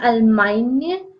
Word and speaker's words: Allemagne: The next country is Germany and Germany is known as La Allemagne. The GN is pronounced as Eine in French and the nationality is Allemande.